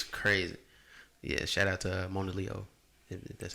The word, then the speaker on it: Mona Leo: whole aesthetic is crazy yeah shout out to mona leo and that's how you pronounce it shout out yeah all right uh